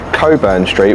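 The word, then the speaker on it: Cockburn Street: we've just walked up edinburgh's iconic Coburn Street which is definitely pronounced that way and not the way it's spelled and we've nipped to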